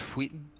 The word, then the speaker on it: Wheaton: It's pronounced Wheaton.